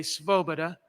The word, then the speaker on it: Svoboda: depression-era diarist named ernest svoboda that's hard to pronounce even when i don't have a mask on s-v-o-b-o-d-a svobada and he kept track of the depression kind